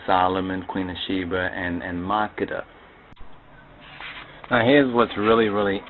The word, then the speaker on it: Makeda: Makeda, that's the proper pronunciation. So I know some would pronounce the name as MAKEDA, but most of those speakers who pronounce it as MAKEDA most likely are not Amharic or Ethiopian speakers.